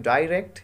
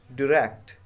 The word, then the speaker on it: direct: पहला आप बोल सकते हैं डायरेक्ट, यानी र पे हमें स्ट्रेस देना है।